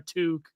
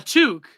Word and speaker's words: toque: A toque. The hell is we call it a beanie? How do you spell that? A toque? Like a TOOK. That's took.